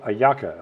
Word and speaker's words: hallaca: You can eat them for breakfast, lunch, or dinner, but it's called hallaca. I just showed you how to spell it.